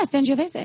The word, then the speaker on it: Sangiovese: And I'm really in the Sangiovese right now. Is that how I say it right? yeah, Sangiovese.